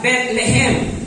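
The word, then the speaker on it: בית לחם: Y dice en el idioma hebreo que se pronuncia Betlehem, que significa casa del pan.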